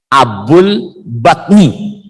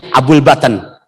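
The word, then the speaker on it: أبو البطن: Sejarah mencatat disebut namanya Abul Batan, Abul Batni, dibacanya Abul Batan. Abun artinya bapak, batnun perut.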